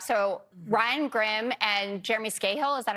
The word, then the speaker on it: Scahill: It's the guys from the Intercept, so Ryan Grimm and Jeremy Scahill, is that how you pronounce it?